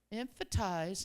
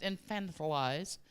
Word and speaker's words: infantilize: cannot stand when people emphatize and the the term is actually pronounced infantilize but I say emphatize because it's so much easier uh adults you're not